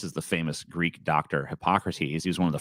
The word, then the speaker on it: Hippocrates: friend matt was like did you know there was actually a greek philosopher called hypocrites and we were like that dude's that's pronounced hippocrates and he wasn't a